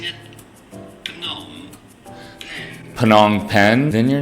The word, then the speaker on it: Phnom Penh: How do you go about pronouncing it? Phnom Penh.